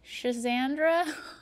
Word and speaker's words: schizandra: I don't even know how do you pronounce that? Rebel. Berries and cream. No, Shazandra.